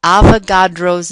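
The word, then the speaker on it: Avogadro: The number is called Avagadro's number.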